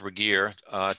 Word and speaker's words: Regier: i want to introduce michael regier it is pronounced regier to you he is a clinical psychologist who